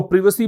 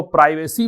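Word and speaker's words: privacy: and violation offer प्रवेश इसको प्रिवसी बोलते हैं और अमेरिकन बीच में इसको प्राइवेसी बोलते हैं तब ऋषि प्राइवेसी दोनों ही इसके उच्चारण होते हैं वायलेशन का मतलब क्या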